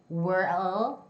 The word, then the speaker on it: world: Now, with the l in the middle, it changes a lot, actually. It's wer wer. Up until wer, it's the same, right? Wer. But then, you have to stick your tongue right behind the the two big teeth on the other side it's uh uh uh uh world world uh uh uh uh nd nd Okay?